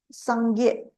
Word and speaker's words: Sangye: words or syllables is Sangye. And for Sangye itself, this is the term for Buddha. So Buddha in the term of the Tibetan consists of Sang and Gye to become Sangye.